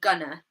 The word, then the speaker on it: gonna: So in English, when we try to say things faster, like going to, instead of saying going to, we'd say gonna, gonna. And instead of saying want to, we might say wanna. So in these examples, the last syllable is unstressed, and we use a schwa sound.